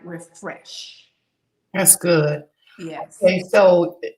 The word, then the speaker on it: Rephresh: There is a gel called Refresh. It's spelled REPHRESH. And it's like the pH.